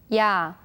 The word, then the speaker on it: 야: 야, 야, 야. So this character is pronounced as ya.